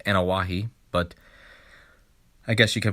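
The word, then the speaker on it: Anoaʻi: have a wrestler his name is laity joseph annoy and actually his last name is pronounced anawahi but i guess you can pronounce it either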